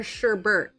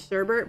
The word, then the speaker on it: sherbet: Is it pronounced sherbet or sherbert? Because I've always pronounced it sherbet, but there is definitely no R in that at the end of that word.